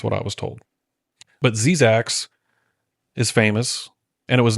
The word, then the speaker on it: Zzyzx: And for a long time, I thought it was just pronounced ZZYZX Road. But I've been told by other people that it's actually pronounced Zizax.